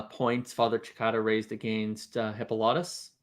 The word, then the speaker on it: Hippolytus: father chicata raised against hippolytus or high politicists as you more correctly pronounced it well you got to make sure not to put the extent on the wrong syllable you know yeah love